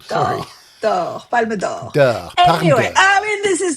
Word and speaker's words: Palme d'Or: Palm d'Or. Palme d'Or. It's not a door. It's of gold. Sorry. Palme d'Or.